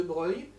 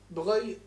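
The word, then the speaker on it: Broglie: compromis qui sont faits par le duc de breuil breuil on dit bruyant ça s'écrit brebis mais andy bons rails ne soyez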